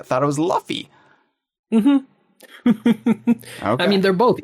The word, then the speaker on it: Luffy: Luffy Luffy is that how you say it's Luffy yeah yeah I've I've never heard it said